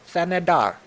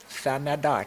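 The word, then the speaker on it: Thanedar: It's It's very easy to pronounce. Shri. Shri. S H R I. Shri. Thanadar. Thanadar.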